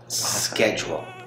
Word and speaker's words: schedule: Primero que todo, no vayan a decir es. No es.